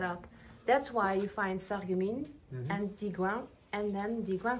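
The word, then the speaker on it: Sarreguemines: Sargamine.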